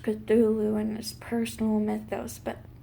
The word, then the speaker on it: Cthulhu: because a lot of those stories like Cthulhu pronounced Cthulhu and there's personal mythos but Petula is a